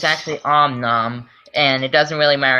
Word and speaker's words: Om Nom: series based off of Angry Birds characters he pronounced him wrong om n it's actually Om Nom and it doesn't really matter anyway since he's